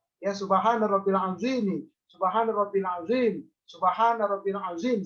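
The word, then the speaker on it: سبحان ربي العظيم: subhanallah wabihamdihi subhanallah hiladzim Subhana rabbiyal azhiim seperti itu diulang tiga kali tidak boleh bacanya begini Subhana rabbiyal adzimi tiga kali tidak boleh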